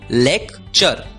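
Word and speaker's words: lecture: टी यू आर ई हमने सीखा टी यू आर ई की आवाज होती है चर इसलिए एल ई सी टी यू आर ई का उच्चारण होगा लेक्चर लेक्चर लेक्चर मतलब भाषण अगला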